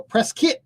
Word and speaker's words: Prescott: So but we will it's say how you Prescott pronounce it.